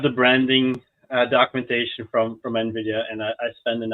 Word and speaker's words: Nvidia: day one can we make sure to pronounce Nidia Nvidia instead of Nidia yeah well good luck